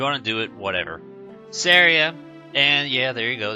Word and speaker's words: Celebi: you how it's pronounced to me syria always made sense because you wouldn't call your friend sorrow you'd call her sarah so if you want